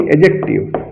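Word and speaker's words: adjective: एडजेक्टिव, एडजेक्टिव नहीं एडजेक्टिव, डी को silent करते हैं, एडजेक्टिव विशेषण हिंदी होता है इसका।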